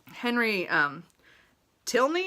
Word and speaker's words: Henry Tilney: I actually think the character, Henry Tilney is how it's said.